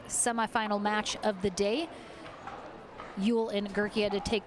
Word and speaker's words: Yule: wrong a little before it is yule so she is living